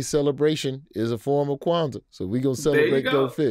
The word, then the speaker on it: Kwanzaa: Talking about Kwanzaa, or as I pronounced it the first time, Kwanzaa. I don't know why I added a letter, but that's what we do in Alabama.